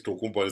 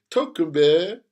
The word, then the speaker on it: Tokumbo: You say, my name is Tokumbo. They say, Tokumbe.